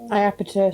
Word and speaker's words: Iapetus: You have to, the I is pronounced, it's Iapetus. Iapetus. Iapetus, it's Iapetus.